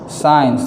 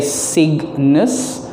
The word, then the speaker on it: signs: traffic um signs eins signs the g is silent i'll write it up here all right so sir eins signs g silent okay so do not say cygnus all right it's eins signs and then oh alphabet